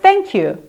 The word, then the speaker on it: thank you: 왜냐하면 아무리 TH 사운드를 발음을 낸다 그래서 혀를 이렇게 앞을 이렇게 누르고 이렇게 하면서 하지만 안 돼요.